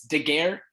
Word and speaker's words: Daguerre: course and yeah lisa my last name is generally difficult to pronounce uh it's daguerre uh it's french um so hello everybody